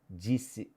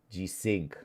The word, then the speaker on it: G-Sync: G-Sins. Yeah, I was talking G-Sins. That's what I thought. That's how you pronounce.